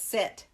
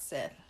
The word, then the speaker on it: Set: I think it's Set, not Seth. Well, and that's another thing. In some of them, it is spelled S-E-T. Mm-hmm. And some of them, it's spelled S-E-T-H.